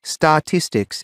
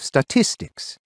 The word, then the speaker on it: statistics: the stress for example I'll say statistics instead of statistics and I always used